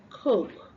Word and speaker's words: cook: the o sound the short o sound which we don't have and then we we exchange it for the long ooh sound we say C cook instead of cook okay so this word is pronounced cook have you cooked today